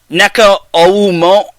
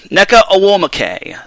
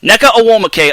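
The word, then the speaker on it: Nneka Ogwumike: not only is he neko oh mo i'm gonna pronounce i'm gonna pronounce this net right necker or wall muke or will mckay neca awomacay there we go neca awomacay of the los angeles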